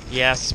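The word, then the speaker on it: Yass: after that towards yes which is pronounced yes but it's actually spelled gas like why a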